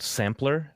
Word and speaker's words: Samplr: Once again, the only real cool use for the touch bar that I've ever seen is a little free app called Sampler. That's spelled SAMPLR.